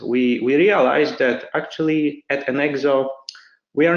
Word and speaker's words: Enxoo: you can see that right now our pronounce is an EXO but I wanted to